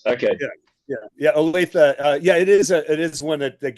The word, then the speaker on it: Olathe: Now, correct my pronunciation, but I do believe you were born in Olathe, Colorado. Olathe, and I Olathe.